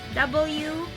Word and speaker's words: walk: And then the next one is most commonly mispronounced too is walk. That's, if you can see the word W-A-L-K, walk. Right? Well, usually they say work. So usually they change work and walk pronunciation. I think it's also because they have difficulty pronouncing the letter R and L sound.